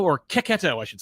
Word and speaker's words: Cecchetto: other creators that were coming out and Marco Chachetto or Ketto, I should say, which is how he pronounces his name.